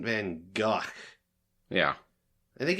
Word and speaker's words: Van Gogh: Yeah, but luckily it's not pronounced the way that the word that's spelled like that is. Yeah. Yeah, so it's supposed to be like Vincent Van Gogh.